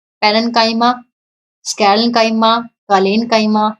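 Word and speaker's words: parenchyma: सी च की साउंड ना देके इसको क की साउंड दी जा सकती है। कैसे भी बोल लो आप, वैसे प्रोनाउंसिएशन सभी अलग अलग तरीके से करते हैं, लेकिन वैसे जो इसकी एक्चुअल प्रोनाउंसिएशन है वो क है।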